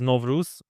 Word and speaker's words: Nowruz: In Kazakhstan, you say Nauryz, but you're right about the roots. So it actually comes from Persia. Today's Iran, and Persian word is Nowruz. I hope I'm pronouncing it correctly.